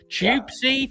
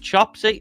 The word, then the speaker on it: Chopsy: Chipsy. Chopsy. I always say your name wrong.